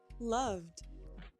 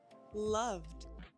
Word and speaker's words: loved: Loved. Loved. It's a d ending.